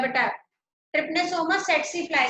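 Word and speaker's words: tsetse: कई लोग इसको टिसी फ्लाई बोलते हैं, लेकिन हमारी टीचर इसको सेट्सी फ्लाई बोलती थी कि टी साइलेंट है, इसलिए मैं भी सेट्सी फ्लाई बोलती हूँ।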